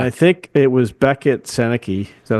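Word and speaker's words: Sennecke: And I think it was Beckett Seneke. Is that how you say his name? Beckett Seneca.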